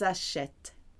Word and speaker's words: achètent: Now we go back because we've got that ENT, which is silent at the end. Ils, elles achètent.